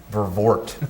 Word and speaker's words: Vervoort: Vervoort.